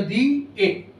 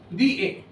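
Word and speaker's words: দিয়ে: যেমন বাংলায় দেখুন দিয়ে ওখানে একটা অন্তস্থ দিয়ে লেখা হয় বাটে কিন্তু অন্তস্থিয়াটার কোন উচ্চারণ নেই ওটা দি এ দি এ কিন্তু ওটা কিন্তু অর্ধস্বর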